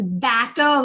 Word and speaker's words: batter: Batter is when you open your mouth out wide. So it's batter versus better. So you can see how my lips are moving, and that's the difference in pronunciation.